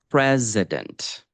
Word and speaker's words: president: And then the word president. I'm pronouncing it very slowly and carefully now, so you really hear that. But there we have 2 schwas.